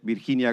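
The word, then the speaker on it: Virginia: I pronounce this in I would said birhinia gamba hola birhinia. Sorry for the Spanish in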